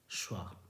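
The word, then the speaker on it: schwa: सी एच डब्लू ए क्या पढ़ते हैं स्वा पढ़ते हैं शवा य ओके यह इसका उच्चारण है और लास्ट वर्ड आज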